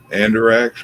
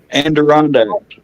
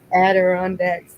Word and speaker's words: Adirondacks: Andiracks, or however they say that. That's how I'm going to say it from now on. What's it called? How they say it? Adirondacks. Adirondacks.